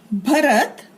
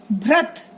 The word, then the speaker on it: भरत: अगला शब्द भरत, भरत, भ्रत। तो सही शब्द क्या है? भरत। भरत नाम है, भरत गलत शब्द, भ्रत गलत शब्द।